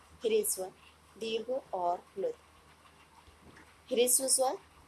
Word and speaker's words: ह्रस्व: इसलिए जो इसका उच्चारण किया जाएगा वो ह्रस्व किया जाएगा, ना कि हारस्व। कुछ लोग इसका उच्चारण गलत करते हैं, तो आप इसका ध्यान रखिए।